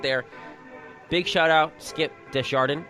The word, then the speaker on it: Desjardin: Big shout out, Skip Desjardin. It's pronounced like it's written. People, there's no accents, there's no silent S's like we talked about in the pregame show here.